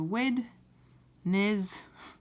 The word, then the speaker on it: Wednesday: now i know when we say it sounds like when like wednesday but it's not spelled that way it's spelt like wednesday um that's a bit tricky but it's good to remember because then you'll never spell wednesday incorrectly so wed nez so watching me i'm